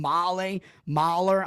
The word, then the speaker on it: Mahle: Is that how you pronounce his name? Mahler?